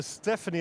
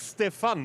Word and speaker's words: Stefan: Yes, Bruce, we call her Stephanie. I actually checked on the pronunciation. It's Stefan, isn't it, Stefan? Yes, it is.